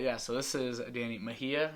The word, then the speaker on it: Mejia: But yeah, so this is Danny Mejia. How you pronounce it? Yes, This is Danny Mejia, and you've been like requested to like be like people.